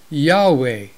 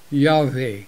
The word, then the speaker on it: Yahweh: but mostly concluded that the name was originally pronounced Yahweh or Yahweh